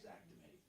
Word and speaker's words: Xactimate: Yeah, it's not Exactimate. It is Actimate, but it's pronounced Xactimate.